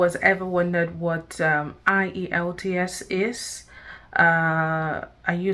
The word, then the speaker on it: IELTS: me to start from the full meaning of IELTS now the full meaning of IELTS is international